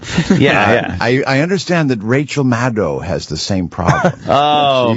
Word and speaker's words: Maddow: That she pronounces it Maddow. Maddow.